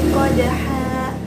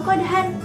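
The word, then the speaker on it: قَدْحًا: Contohnya, wal adiyati dobha, fal muriyati qodha. Bukan lagi dibaca dobhan atau qodhan, tapi bacanya dipanjangkan.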